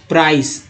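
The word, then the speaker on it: price: अब देखिए minimum supports प्राइस, कुछ लोग इसे प्राइज बोलते हैं, प्राइज, तो वो एक्चुअली गलत उच्चारण करते हैं। कुछ ऐसे इंग्लिश में बहुत सारे लोग हैं, इंग्लिश वर्ड को लेकर गलत उच्चारण करते हैं, उसको प्रूफ करते हैं कि ये वह सही है, उनके नज़र में सही है लेकिन उच्चारण गलत होता है। तो ये प्राइस है, ना कि प्राइज।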